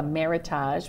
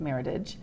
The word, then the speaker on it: Meritage: He thought it might have been what he called a meritage, which I think it's actually pronounced meritage.